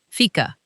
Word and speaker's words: fika: Fika. It's spelled f i k a and it's pronounced fika.